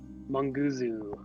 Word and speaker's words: Munguzu: Is it Monguzu? Yeah, you can say it. Mongoose? Munguzu. Like kind of blend it all together.